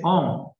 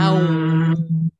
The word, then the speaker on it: AUM: conocido de todo, que la gente le dice OM, pero realmente no es OM, es A, U y varias M, es AUM. AUM.